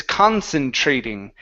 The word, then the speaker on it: concentrating: all right now the the trick here with the TR okay is that we pronounce the TR like a CH HR okay so instead of saying it's tra trating concentrating concentrating okay that's better that's better good uh let's go to